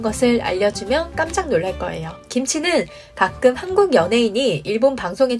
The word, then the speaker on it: 김치: 선별적 비난이 필요하다고 봅니다 한국어로 말할 때는 김치 라고 발음하고 일본어로 말할 때는 기무치 라고 발음하면 되는데 반대가 되면 안된다는 이야기입니다